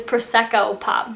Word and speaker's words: Prosecco Pop: liquid in Prosecco pop I know I pronounce this wrong like 15 times on my back feet I earn videos but it's Prosecco pop not for Tesco or Prosecco or whatever I'm gonna keep this